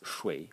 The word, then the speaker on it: 水: And the semantic elements, these three strokes over here, pronounce shui, or 三点水, the three dotted water, water.